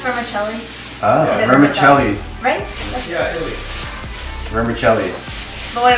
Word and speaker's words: vermicelli: roll vermicelli hermes vermic wait what is it pronounced vermicelli ah vermicelli rice remember kelly but what about in the